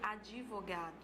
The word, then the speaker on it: advogado: Você tem também a palavra advogado, que algumas pessoas pronunciam advogado, tá certo? Então, você insere uma vogal aqui na sequência de duas consoantes, certo?